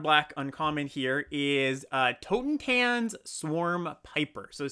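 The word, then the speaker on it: Totentanz: tokens and swarm Piper Toten Tans I said it wrong tone tan swarm paper or another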